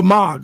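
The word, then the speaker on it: Moog: use the plugins um pronounce MOG oh MOG okay gotcha I mag MOG um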